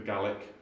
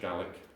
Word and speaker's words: Gaelic: It comes from the Gaelic, the Irish Gaelic. I don't know if, is it Gaelic or Gaelic, the Irish? Gaelic, okay, Gaelic. Gaelic in Scotland. Gaelic in Scotland, thank you.